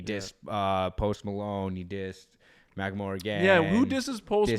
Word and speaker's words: Macklemore: Macklemore, yeah. I keep saying Malcolm.